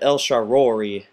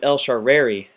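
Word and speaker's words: El Shaarawy: First, we have El Sharori like a lion. Roar like a lion. We have El Shareri as I was saying it. El Sharawi. But I'm going to pronounce it El Sharowi. Um, that's just how I learned to pronounce it. And so, you know what? It may be wrong, but that's how we're going to pronounce it.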